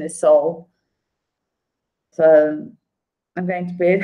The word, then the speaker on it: Seoul: The written spelling is Seoul, but the pronunciation is Seoul.